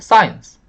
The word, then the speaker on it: science: 쓰는 그냥 뭘 버리더라도 science 끝이에요. 앞에 강세를 찍어야 됩니다.